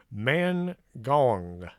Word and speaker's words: Mangaung: I pronounced that name several times before the show. Mangaung.